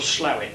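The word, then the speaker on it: Slaithwaite: where it's called Slowit Slate it's spelled but yeah they pronounce it slowit and it's a roll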